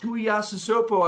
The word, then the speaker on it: Tuiasosopo: Matt Tuiasosopo, I believe, I may have said that wrong.